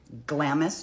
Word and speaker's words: Glamis: It wasn't until a New Year's weekend trip and I think this is pronounced Glamis, g l a m i s.